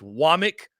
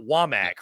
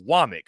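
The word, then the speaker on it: Wommack: saw on social media it's wck not wamack for all those out there it's wck so Kane wck and I'm glad I saw that because I would have butchered it uh Kane wck though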